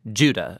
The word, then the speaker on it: Judah: day of eternity amen the letter of Jude or more accurately Judah according to the pronunciation of his name both in Greek and in Hebrew Judah was one of